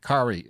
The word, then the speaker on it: Kari: kari kerry andrews um his name is kerry cause i actually googled it and it was like kari uh yeah sounds rhymes with atari so i was like